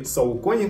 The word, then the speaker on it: Saucony: Я давно хотел попробовать что-то у Saucony, или Saucony, как многие называют, да, но на самом деле читается как Saucony.